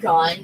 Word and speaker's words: GUN: These are gun robots. And yes, I'm going to just be pronouncing it as gun and not as G-U-N. Because, come on, that's just what it spells.